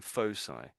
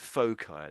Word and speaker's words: foci: Oh, they're saying fosai, but you could say it fai. That's another way of saying it.